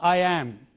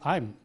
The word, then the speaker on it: I'm: Similarly, I'm. It is not I am, but it is I'm.